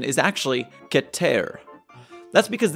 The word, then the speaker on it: Keter: true pronunciation is actually get ter that's because this is a real word taken from Hebrew it means highest or